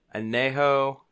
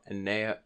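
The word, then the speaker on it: añejo: Anejo. So it's El Padrino Anejo, Tequila Anejo.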